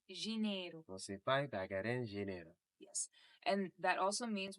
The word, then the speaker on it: dinheiro: Also, too, just a quick note, when you look at Portuguese, when you see the D is actually pronounced G. G. So instead of saying dinero, which is Dinheiro.